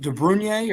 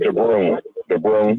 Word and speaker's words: DeBrun: Cage, is it DeBrunier or DeBrun? How do you pronounce his name? DeBrun, yeah.